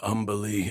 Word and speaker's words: Umberlee: What do you know of Umberlee, Astarion? Oh, lots. Rhymes with undersea, for one thing.